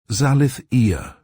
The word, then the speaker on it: Zalithea: Giờ thì, cô ấy sẽ chỉ cho anh cách phát âm tên mình cho đúng. " Zalithea quay sang Barry, đặt một bàn tay mảnh khảnh lên ngực: "Zal'ith eeah," cô nói rõ ràng, và ra hiệu cho anh lại gần.